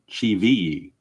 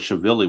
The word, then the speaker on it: Chivilli: It is Cheveye. I thought it was Chevilly when I saw the name, but it's actually pronounced according to their announcers, it is Cheveye.